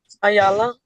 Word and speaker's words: Ayala: Now give me the correct pronunciation of your last name, please. Ayala.